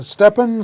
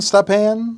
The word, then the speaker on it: Stepan: name of this company may have a couple of different pronunciations i'll cover them all steppen stephane stapan company i think it's the pond yeah scl ticker symbol